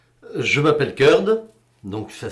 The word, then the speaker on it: Curd: Je m'appelle Curd, donc ça s'écrit C-U-R-D.